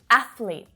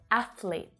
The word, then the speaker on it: athlete: of espresso and especially athlete athlete now this is two syllables only not three okay you may hear